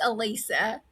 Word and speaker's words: Allisa: It's Alisa.